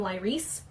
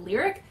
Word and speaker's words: Lyric: follower of me and you pronounce my name Lee Reese instead of lyric I probably wouldn't give